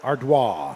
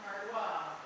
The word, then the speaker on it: Ardoin: And that will bring up the shortstop number 1, Jordan Ardois. Now batting for the Monarchs, shortstop number 1, Jordan Ardois. A Cajun name, as it is spelled Ardoin, but is pronounced Ardois.